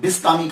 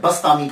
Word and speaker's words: بسطامی: Change ہو جاتے ہیں۔ تو یہ جو بسطام ہے، اصل لفظ جو ہے یہ بسطام ہے، تو کچھ لوگوں نے بستامی کہا، کچھ نے بسطامی کہا، اور کچھ نے شہر